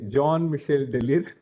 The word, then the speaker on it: Jean-Michel Delire: Jean-Michel, so that's how they say, Jean-Michel Delire. So anyway, so this is how I know his pronunciation.